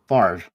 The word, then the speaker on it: Favre: letters like brett favre spelling his name f-a-v-r-e and pronouncing it far like no it's fabre